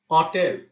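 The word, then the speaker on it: hotel: সুতরাং এইচ ও বা আক্কা অ হবে অ ইজ ইংরেজিতে যেটা হোটেল ইতালিয়ানতে সেটা উচ্চারণ হবে অটেল হোটেল সুতরাং মনে রাখার সহজ নিয়ম হচ্ছে চি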